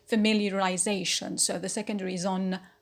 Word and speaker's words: familiarization: root is familiar familiar so me becomes a secondary stress in this word so we say familiarization so the secondary is